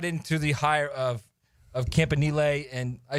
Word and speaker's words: Campanile: Now, were you shocked when that's how the pronunciation went? Campanile? No. His brother's name is Nunzio. That ought to give you some indication as to how it was going to go.